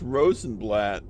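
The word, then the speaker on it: Rosenblatt: Well, not to dox myself, but uh my last name is uh I'm not even going to try to pronounce it in German. Uh, but in English it's called it's rosenblat which I think is translated into rose leaf or something.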